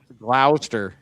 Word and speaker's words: Gloucester: Gloucester. Yeah, it's Gloucester. It's Gloucester, like Gloucester. claw, Gloucester. like a lobster Gloucester.